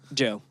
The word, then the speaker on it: Djo: We're talking about Decide by How do you say his band name? Joe. It's just Joe.